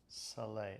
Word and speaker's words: Soleil: Also, it's Soleil.